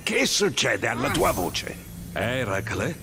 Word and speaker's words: Eracle: succede alla tua voce era cla sì quello è così che si dovrebbe pronunciare sembra una bella fatica